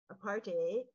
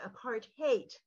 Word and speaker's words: apartheid: who informed us that the correct pronunciation is not apartate aparte but a part haate and I think it's